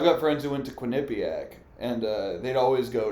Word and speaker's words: Quinnipiac: how it's literally pronounced it's either that or Quinn Pak everybody says Quin Pak I've heard both really I've never heard whatever